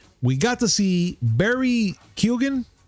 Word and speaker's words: Keoghan: We got to see Barry Keoghan. Keoghan. Is that how you say it? Barry Keoghan. Oh, so that was silent. Keoghan. Yes. So Barry Keoghan. It's an Irish thing.